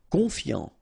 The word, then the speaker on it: confiant: Confiant. Okay, final T not pronounced. So, O-N, on, I-A-N, yan, confiant.